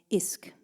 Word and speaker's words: ISQ: also the band leader of isk which is spelled isq which is is um uh